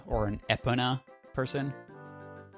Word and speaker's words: Epona: and are you an e pona or an epona person i usually just go like epona like almost like an eponymous yeah yeah yeah any